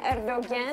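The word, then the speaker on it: Erdoğan: Tulisannya Erdogan, tapi pronunciation-nya Erdogan.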